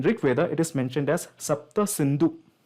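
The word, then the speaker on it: Sapta Sindhu: it is mentioned as sapta synu right sapta synu Yi Seven Rivers Seven Rivers now the Persians came around that region and they started mispronouncing it as hapta Hindu because they can't pronounce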